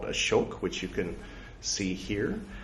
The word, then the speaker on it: Ashoka: Yes, that is from a movie called Ashok, which you can see here, or Ashoka. They don't pronounce the A usually, unless they're talking to foreigners, so that confuses us